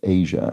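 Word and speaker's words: Aja: Steely Dan album whose name is pronounced Asia. All right. I don't know Steely Dan very well, but I do know they have an album Asia spelled AJ A.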